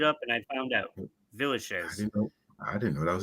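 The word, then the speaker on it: Villechaize: how it's pronounced. I looked it up and I found out. Villachez.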